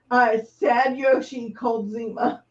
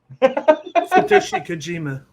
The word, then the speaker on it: Satoshi Kojima: Sad Yoshi Koldzima. Satoshi Kojima.